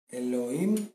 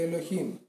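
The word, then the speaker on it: Ελωχίμ: Ελοήμ και Ελοχήμ. Τα ίδια είναι. Απλά το ένα είναι με προφορά εβραϊκή και το άλλο είναι προφορά ελληνική, ας το πούμε.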